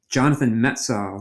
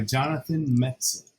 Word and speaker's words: Jonathan Metzl: It reminds me of the Jonathan Metzl.